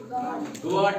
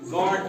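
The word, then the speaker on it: guard: गार्ड नहीं पढ़ते हैं बल्कि गॉड पढ़ते हैं।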